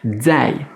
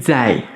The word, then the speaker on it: 再: Mais ce Z, on va le prononcer un petit peu comme un DZ, DZ, Zai, Zai.